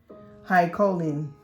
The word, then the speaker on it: choline: or reduce the intake of high co um choline i say it right but i don't know why i lose my confidence sometimes so high choline food such as broccoli beans eggs legume kidney